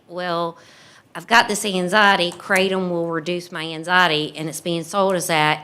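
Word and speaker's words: kratom: was the how do you say it the keratin or Yeah, it's theratom cratom. And um right now they've released state funds and individuals are taking these feeling like well I've got this anxiety cratom will reduce my anxiety and it's being sold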